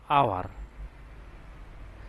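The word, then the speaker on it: hour: Same একই রকম এখানে এইচ এর উচ্চারণ না আসে, এখানে হবে আওয়ার।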